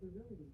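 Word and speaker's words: virility: I pronounce that verility.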